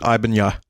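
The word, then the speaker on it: Ibanez: It's a It's an Ibanz. You don't pronounce the Z or most of the other letters and you just pronounce it Ibanya.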